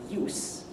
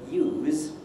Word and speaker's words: use: the word use and the word use differ in the final consonant. Use is a verb, and we think it ends in a Z. Well, it might. Use is a noun, we think it ends in an S. But the big difference between those two, really, is that use is very short, and use is very long.